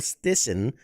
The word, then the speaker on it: Stisen: Stisen, and director Fansu Njie.